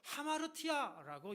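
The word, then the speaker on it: ἁμαρτία: 헬라어로 하마르티아라고 이렇게 발음하는데요.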